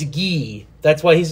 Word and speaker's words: Guy: Just like Guy is spelled Guy, but it's Guy.